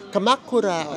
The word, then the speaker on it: Kamakura: Pero doon sa ano no yung nag-announce ang pronounciation kamakura ganon kamakura Gan siya So ang una nating